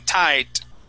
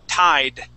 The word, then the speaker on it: tied: And you're saying tight. All right? We need a D sound. So pull your tongue back, okay? And let it hit the top of your mouth, just like a Spanish R. Tied.